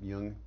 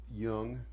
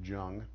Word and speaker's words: Jung: She said, well, you should really read about Jung. At that time I pronounced it Jung, and the collective unconscious.